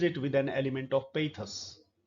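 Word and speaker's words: pathos: Lamb begins the essay with an element of humour and ends it with an element of पेथस। ये शब्द spelling देखिए आप, इसका pronunciation रहेगा पेथस। अपने एसेज में ह्यूमर का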